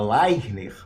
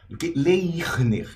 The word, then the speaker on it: Leirner: pena Expressa em som para um carioca é mais fácil falar layzner leisner é muito difícil para um Paulista o oposto falar